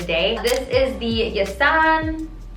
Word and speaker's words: Jason: This is the Yasan, it's spelled like Jason, but I think it's Yasan pronounced.